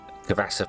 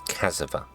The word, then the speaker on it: cassava: I keep pronouncing it Cavassa for some bizarre reason. It's cassava.